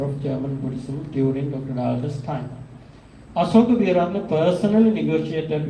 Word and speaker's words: Dahlke: Paul Dahlke. So even though we pronounce as Paul Dahlke, when we speak English, the correct name is Paul Dahlke.